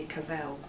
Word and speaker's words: Cavell: it would to be Cavell but actually in the research we found that her family wanted her name to rhyme with travel and not hell so that's why it